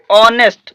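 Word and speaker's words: honest: क्या बोलते हैं हम ऑनेस्ट ओ से आ रहा है ठीक है ना ऑनेस्ट तो यहां पे हम ए न लगा कर के एन लगाएंगे एन ऑनेस्ट मैन क्योंकि उच्चारण में स्वर वर्ण आ रहा है क्लियर चलिए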